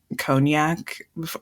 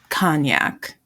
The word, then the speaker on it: Cognac: already been read to filth for saying like conac like it's Kan it's like the one French